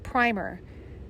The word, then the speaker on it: primer: epistolary novel page 196 primer despite its spelling this word rhymes with dimmer and was the little